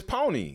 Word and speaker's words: Poni: thinking is honey so so it's Pony yeah Pony yeah oh I've been saying it wrong it's hell we're not